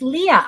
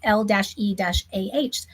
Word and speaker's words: Leah: It's Leah. I'm so sorry. The E threw me off. So she's saying L, if you can see it in the chat, it's L-E-AH. So it's Leah.